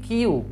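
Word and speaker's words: queue: stand in এ কিউ এটা উচ্চারণ হবে যে কিউ কিউ ঠিক আছে অলওয়েজ স্ট্যান্ড কিউ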